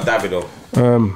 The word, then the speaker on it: Davido: Burna Boy or Davido?